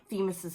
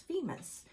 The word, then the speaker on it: Themis: Yes, and it's interesting because this is how you spell Themis's name. But I asked Katie how you pronounce it. Is it Themis? And she said, no, it's Femis.